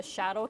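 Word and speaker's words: Xadow: Seed Studio makes these interesting kits called the Shadow Kit, but spelt with an X, where the Intel Edison fits on this little board.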